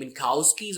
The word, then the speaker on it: Minkowski: you can spell it i usually prefer saying minkowskis where the k is almost silent minkowski nasty you can